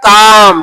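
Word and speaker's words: calm: का मतलब काल कालमो कालमो में एल साइलेंट है तो क्या बन जाएगा काम क्या बनेगा बी ए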